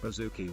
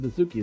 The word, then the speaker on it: Baszucki: It's not David Baszucki, it's David Baszucki. You said it wrong.